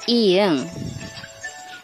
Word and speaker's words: ㅇ: When it is an ending consonant, the sound is ng, like song, bring.